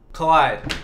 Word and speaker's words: collide: Rhymes with bride and ride. Collide.